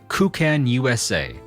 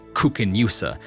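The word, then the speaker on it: Koocanusa: By the Waters of the newly formed Lake kuchan USA a portmanto combining the words cutney Canada and USA the locals request that we pronounce it that way kuchan USA say rather than say kukin USA to prevent others from mistaking the name as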